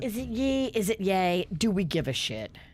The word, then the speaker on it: Ye: his name to Y-E, yay. She said, it's how about hear ye is how you pronounce ye.